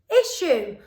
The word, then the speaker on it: issue: I, sh, oo. Issue.